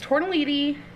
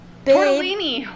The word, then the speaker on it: tortellini: one it's made it's tortelliti tortelliti did i say that wrong tortellini baby how do you